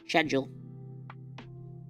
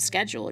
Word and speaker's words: schedule: Schedule. That's how you say it. It's not schedule. It's schedule.